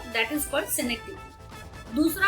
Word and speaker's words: synecdoche: सिनेक्टिकी का मैं स्पेलिंग आपको यहाँ पे बता देती हूँ, SYNECDOCHE, इसे हम सिनेक्टिकी कहते हैं।